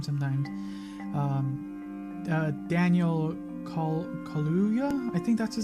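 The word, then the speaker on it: Kaluuya: i forget his name sometimes um uh daniel kahluya i think that's his name i always mispronounce his last name but he's a wonderful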